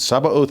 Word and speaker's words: Sabaoth: And Sabaoth is not a mispronunciation of Sabbath.